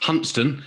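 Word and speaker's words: Hunstanton: number one i think you'll find it's pronounced hunstan if you uh live in north norfolk even though it's spelt constantin i'll just put that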